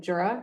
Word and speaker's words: Jura: sections in the Mount Jura. Did I get that pronunciation right? Is that Jura? Okay, thank you.